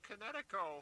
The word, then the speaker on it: Kinetico: Oh, son, you should have remembered kinetic as in kinetic energy with an O on the end. Kinetico.